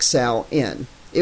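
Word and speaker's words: Samhain: second into that motion Salman that's pronounced like Sal in it was the old North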